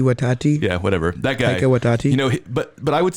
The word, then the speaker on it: Taika Waititi: So other than like the Thor movies that are directed by, I can't pronounce that guy's name ever. Taiki Watati. Taiki Watati. Yeah, whatever. That guy. Taika Waititi.